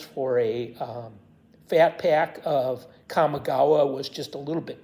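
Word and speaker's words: Kamigawa: to be available and kamagawa or as West inter boys pronounces it commigawa which may be correct too just like may be correct for Alara um they both sound really good so I'm not sure which is correct um those bundles which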